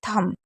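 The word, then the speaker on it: thumb: जैसे थंब तो थंब में आप देख रहे हैं टी एच को थ पढ़ रहे हैं। यू को आ पढ़ रहे हैं और एम को मा पढ़ रहे हैं। लेकिन बी साइलेंट है। क्योंकि एम और बी अगर साथ में होता है तो बी को नहीं पढ़ा जाता है।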